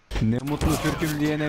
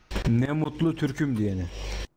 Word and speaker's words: Ne mutlu Türküm diyene: Do you know ne mutlu Türküm diyene? Side. No bro, can you teach me? Ne mutlu Türküm diyene means I am glad I am Turkish. Say it again. Ne mutlu Türküm diyene.